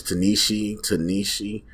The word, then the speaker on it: Ta-Nehisi: Now they bring in the Coates, I don't even know pronounce the first name. I believe it's Ta-Nehisi Coates, who did some work with the comics, most notably Black Panther, but also just the author.